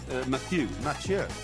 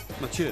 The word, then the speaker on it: Mathieu: Matthew. Mathieu. He's French, they don't play cricket. Mathieu.